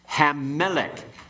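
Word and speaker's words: הַמֶּלֶךְ: Okay, let's go through and pronounce these and then give the translation. Okay? Hamelech, the king.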